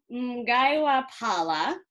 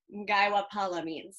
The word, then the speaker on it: Mgaiwa phala: some food uh today we're making gaiwa pala i'm pretty sure is how it's pronounced um which is a